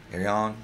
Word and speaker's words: Ayreon: I think it's Ayreon. Ayreon, that's how you say it.